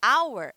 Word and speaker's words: hour: de baixo é alway hour que significa hora em inglês o h é mudo ele não tem som então o som que eu pronuncio na palavra Hauer é um som de vogal por isso que eu